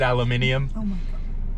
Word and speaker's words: aluminium: reinforced stainless steel forged aluminium anyways um you're not british that's the right way to say aluminum have you ever looked at